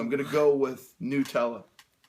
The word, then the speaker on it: Nutella: me, sir, excuse me, it's spelled Nutella, Nut-ella. We're either doing Nutella or Nutella, depending on where you are and how much you give a damn.